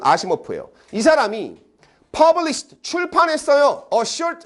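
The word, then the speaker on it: Asimov: 발음은 아시모프예요.이 사람이 published 출판했어요.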